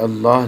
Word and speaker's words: اللہ: 100 مرتبہ، 100 مرتبہ اللہ الصمد، اللہ الصمد، اللہ الصمد۔ میں نے اللہ کو موٹا کیوں پڑھا ہے؟ لفظ اللہ جو ہے اسے موٹا کر کے پڑھا جاتا ہے تاکہ ہمیں صحیح سمجھ